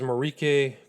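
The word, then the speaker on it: Marijke: My name is Marrique and I'm a victim of Jeffrey Epstein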